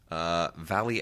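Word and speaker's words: Valie: the Austrian feminist filmmaker Valley Export. That's spelled V-A-L-I-E. Not like she's being exported from the valley, but that's actually a Germanic name, I guess.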